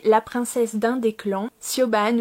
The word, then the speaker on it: Siobhan: princesse d'un des clans, Siobhan ou Shivon, ça dépend comment on le prononce, du coup qui va pactiser avec le roi du camp ennemi.